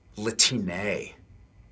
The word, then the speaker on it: Latine: But we actually pronounce it Latine. Like with one of those Mexican line thingies on the top.